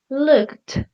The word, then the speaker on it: looked: Instead, looked. The ed sounds like a t, like really strong, looked. But listened ends with a d sound, less strong than looked.